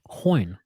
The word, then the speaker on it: Hoyne: Do you enjoy hearing him say Hoyne as much as I do? Hoyne. It's magical. Well, am I saying it wrong? I'm not saying it wrong. No, you're not saying it wrong at all.